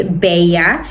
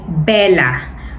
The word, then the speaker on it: Bella: iko so ah ang double l pronounce is like why that is why it's beya but in the Philippines we say Bella Okay ah ang Bella